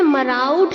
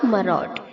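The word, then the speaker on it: maraud: कैसे प्रोनाउंस करना है एम ए आर के आगे जो ए यू है उसे हमें मरा उड नहीं बोलना है आर के आगे जो ए यू है उसे हटाकर ओ कर देना है तो ये प्रोनाउंस होगा मरोड ओके मरोड मरोड मरोड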